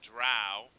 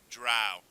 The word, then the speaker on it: drow: game you play the drow how do you pronounce it that's right drow not dro okay yes and they